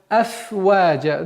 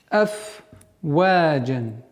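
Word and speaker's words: أفواجا: Так как в данной ситуации буква «фа» – фрикативный звук, то есть при произношении струя воздуха должна продолжительно свое действие влиять на произношение. «Афваджа». Нельзя его скоростечно произнести быстро «афваджа», чтобы она не переходила в другой звук.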